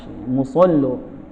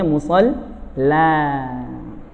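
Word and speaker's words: مصلى: Musollo. Wattakhidhu min maqami Ibrahim musollo. Kalau kita bacanya musalla. Kenapa jadi o? Karena ada lam mufakhamah.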